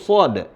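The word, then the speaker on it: ص: al-qur'an dalam surah Shad cara bacanya dengan membaca seperti hurufnya tersebut Shad ya dibaca dengan mad lazim baik Coba Ana baca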